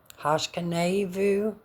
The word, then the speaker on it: Hashkiveinu: Hashkiveinu, Adonai, Eloheinu, Shalom, Ve-hah-ah-mee-DAY-noo, malleinu, Leh-CHY-yeem, Ufros, Aleinu, sukat, Shalom. So that's it. The pronunciation.